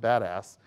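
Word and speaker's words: BDAS: abbreviated be das and for those in the know it's pronounced badass and it basically you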